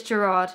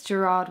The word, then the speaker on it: Gerard: to be a thing I have a friend called Jared and I always call him Jared because this that's how he pronounces it but it's Gerard isn't it it's Gerard Way I apologize I'm I'm